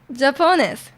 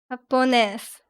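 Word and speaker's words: Japonés: Accent on the ne. I don't know what the accent does. Japon. Japon. Japones.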